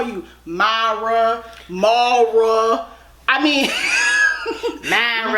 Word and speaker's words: Mara: You know, I've heard people call you Mara. I mean, Myra. Yes. First of all, can you tell me how it's properly pronounced? Well, my name's not Myra. It's Mara. Mara.